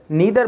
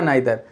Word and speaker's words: neither: हम ईदर बोलें या आइदर, नीदर बोलें या नाइदर। सो फ्रेंड्स, एक्चुअली दोनों प्रोनाउंसिएशन सही हैं। आप ईदर या आइदर, नीदर या नाइदर, आप कुछ भी बोल सकते हैं।